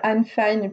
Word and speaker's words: Anne Fine: Donc Anne Fine, c'est le nom de l'auteur qui se prononce en fait Anne Fine puisqu'elle est d'Angleterre.